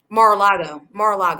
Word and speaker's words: Mar-a-Lago: So Mar-a-Lago, that's how you say it.